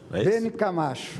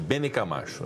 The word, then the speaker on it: Bene Camacho: Eu consulto, senador, me parece que eu errei a pronúncia do nome de Vossa Excelência, é Bene... Bene Camacho. Bene Camacho, né?